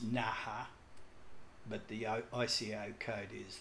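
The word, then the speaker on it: Naha: can see here's well it's pronounced na ha but the ICAO code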